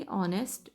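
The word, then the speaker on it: honest: यहाँ पे क्या है, यहाँ पे एच साइलेंट है दोनों में. एच की अपनी साउंड नहीं है, अगर होती तो फिर हम ए यूज़ करते, लेकिन इसकी अपनी साउंड नहीं है. स्टैंडर्ड इंग्लिश में ये दोनों लेटर्स साइलेंट हैं. That's why वी are beginning this word with O.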